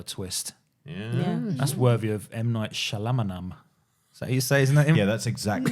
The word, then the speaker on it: Shyamalan: That's worthy of M. Night Shyamalan.